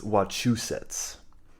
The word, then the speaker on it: Wachusett: and then we probably got correct, and it's Wachusets, not Fuck watch a these set.